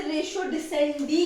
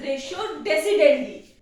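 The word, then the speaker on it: ratio decidendi: है यूज हम इसे रेशो डि सेंडी कहते हैं बट इट इज not actually रेशो डिसेंड इट्स रेशो डेसिडेंट ठीक है ये चीज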